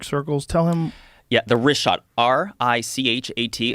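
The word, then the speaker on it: Richat: Yeah, in the first couple, I just want to say it's Rishat. I used to call it Rikhat. I was mispronouncing it.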